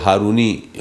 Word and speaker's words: ہارونی: پر بھی حضرت عثمان ہارونی، معاف کیجئے، بعض جگہوں پہ اس کو ہارونی پڑھا جاتا ہے، لکھا جاتا ہے، لیکن جو اصل تلفظ ہے وہ ہارونی ہے۔ حضرت عثمان ہارونی رضی اللہ تعالیٰ عنہ یہ کون ہے؟